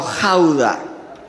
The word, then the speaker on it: Gouda: reunieron en un lugar llamado jaula se escribe gouda y prepararon por escrito